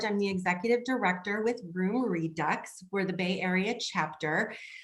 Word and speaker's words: Room Redux: always tease them and say you just don't pronounce all the letters so to me i would say room redo but it's not room redo is it no it's room redux okay we use the american term yeah so